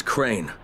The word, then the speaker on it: Crane: no my name is crane crane crane rhymes with train and brain and say and gray and ray and plain and the other kind of plane and and can I